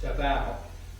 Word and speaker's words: Davao: He got his reputation when he was governor of Davao, which we pronounce as Davao in the United States, but actually the correct pronunciation is Davao, which is on the